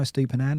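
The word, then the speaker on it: Estupiñán: Finally, I can pronounce that now. Estupinan.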